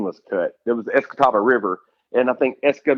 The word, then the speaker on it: Escatawpa: The town I lived in is Escatawpa, Mississippi. Yeah, see, I can't pronounce either one of those.